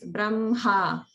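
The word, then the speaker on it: ब्रह्म: And here's the same example we were talking about last time, where it's Brahma, Brahma. So it's written as HM, but we pronounce it as Brahma, Brahma.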